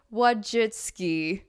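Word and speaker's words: Wojcicki: our home here on YouTube um with Susie what jitski oh yes why did I say her name correctly for once because she left YouTube Susan what jitski what jitski yeah okay I said it yeah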